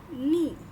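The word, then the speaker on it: 二: इसका रीडिंग क्या है इसे क्या कहेंगे हम नी नी ओके इी है ना इची नी ओके हां अब ये है कि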